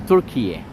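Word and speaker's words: Türkiye: They put letter E at the end, so they pronounce it as Turkiye.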